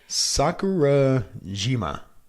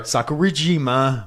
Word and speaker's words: Sakurajima: Sakurajima. Yeah, a little better. Sakurajima volcano.